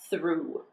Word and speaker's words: through: The only word you'll probably come across that has O-U-G-H and the sound oo is through.